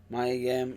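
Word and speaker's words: Mia Yim: Is it did I pronounce it correct? Yes. Maya Yim.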